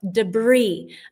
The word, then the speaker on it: debris: and protect yourself from debris. A nice word I'm sure we stole from the French. Debris, don't pronounce the S.